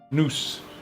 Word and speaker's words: noose: Noose. Noose is pronounced. It's not nouse like the if you put an E on the end of that word. You got mouse kid.